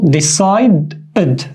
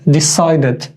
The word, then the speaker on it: decided: Now, the only case when we say it like ed is after d or t. Just in these 2 cases, we say it like full ed. For example, decided, decided, wanted, wanted.